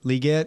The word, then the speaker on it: Legette: over there they got is it Legette is that how you say his name liette liette yeah Xavier does anybody scare